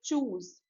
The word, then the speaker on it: choose: चूज, चूज, right. और सही spelling क्या है?